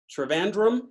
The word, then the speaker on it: Trivandrum: time India in fact Trivandrum said were you and i pronouncing that right you are Trivandrum is the the british way now if you want to real get ethnic it's theater van dumper oh i won't i